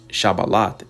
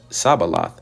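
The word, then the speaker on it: Shibboleth: said they unto him say now shabal and he said Sabal for he could not frame to pronounce it right then took then they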